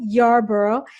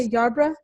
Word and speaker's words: Yarbrough: back to sales mastery i'm here with jessica yarborough and am i pronouncing that right yes jessica yarbrough good good and she is the expert on